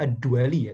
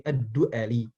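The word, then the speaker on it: ad-Du'ali: Aswad ad-duali rohimahulloh tahan ini bacanya Abul Aswad Bukan ad-duali tapi edly yang beliau wafat pada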